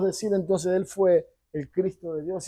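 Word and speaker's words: Χριστός: La palabra en hebreo se pronuncia Mesiaj y en el griego se pronuncia Cristo.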